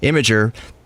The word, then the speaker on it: Imgur: we heard from Sara's own mouth that it's pronounced imager that's the beauty of social websites would you